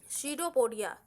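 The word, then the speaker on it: pseudopodia: When amoeba senses food it forms finger like projection called शीडोपोडिया। इसको शीडोपोडिया बोलेंगे, पी से है बट पी साइलेंट रहता है, शूडोपोडिया इसको बोलते हैं।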